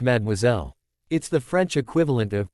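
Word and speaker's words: mademoiselle: Actually, it's pronounced madmoiselle.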